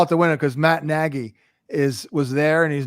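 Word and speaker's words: Nagy: ask the Chiefs about Negi right now hey I've been saying Negi since September yeah and it's December now finally people are saying it right Adam yeah it's true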